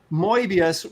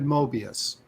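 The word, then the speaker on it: Moebius: if you're I no he said mbius but if your French isn't that good Mobius so he recognized both pronunciations but did say that it was moas so there we go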